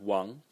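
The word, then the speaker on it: 王: out on this uh big character which is pronounced Wang and it's it's it's a king it's basically the the ruler of the state so the main person the ruler of the state Wong semantic element and Jew The Fanatic element but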